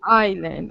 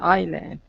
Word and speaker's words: island: uh I stay okay do not pronounce the s oak island island island okay okay mm-hmm um